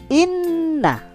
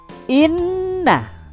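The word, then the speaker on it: إنَّ: Ada huruf alif bertanda baca kasroh dibaca i, bertemu dengan huruf non yang bertanda baca tasydid dan fathah. Bagaimana membacanya? Tahan, bunyikan. Inna. Inna, ya. Inna. In dan na digabungkan inna.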